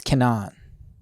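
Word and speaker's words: Kenan: It's Canaan. Canaan. Because it's in Hebrew, the accent is always on the last syllable, unless there's an accent there saying it's in the syllable.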